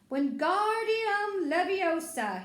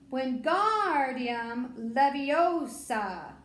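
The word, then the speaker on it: Wingardium Leviosa: having much more luck when guardium leviosa he shouted waving his long arms like a windmill you're saying it wrong harry heard hermione stop it's when guardium leviosa make the gar nice and long you do it then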